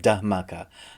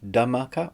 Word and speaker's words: Dhamaka: new indian movie called da maka i'm hoping i'm pronouncing that right i think it's got a silent h da maka or dharmaka anyway let me know